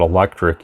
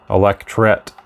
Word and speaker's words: electret: Some people say it in different ways. Some people call it electric even. Electret, I think, is actually how you say it.